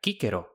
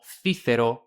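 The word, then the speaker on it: Cicero: Y de esta forma, kíquero se pronuncia kíkero, no cícero, no sísero, noero, ni chichero, como quieren los italianos.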